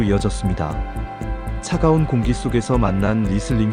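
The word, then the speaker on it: Riesling: 차가운 공기 속에서 만난 리슬링 현지인들 발음으로는 레쉬링에 더 가깝게 들립니다.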